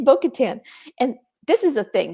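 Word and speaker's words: Bo-Katan: And the worst is when like the emphasis is on the last syllable.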